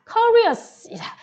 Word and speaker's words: curious: 자, curious. 요거 발음할 때 be careful to pronounce this. 이거 발음할 때 조심하셔야 돼요. carrier가 아닙니다.